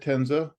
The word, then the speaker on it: Tencza: Yes, my name is Tencza. The C is silent. It's a Polish name and it stands for rainbow, which is interesting.